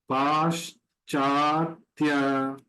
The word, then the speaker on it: पाश्चात्य: पाश्चात्य, yes के apostrophe sh हो गया। C is pronounced as cha always here, and A दोनों A में बार है, फर्स्ट एंड सेकंड।